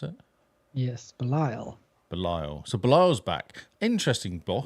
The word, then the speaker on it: Belial: So Ambush, it's Bial, I guess that is. Oh, Belial. Belial, is that how you pronounce it? Yes, Belial.